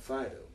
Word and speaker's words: Phydeaux: We had Frank Zappa's bus called Fido, but it was spelled like a French word, Phydeaux.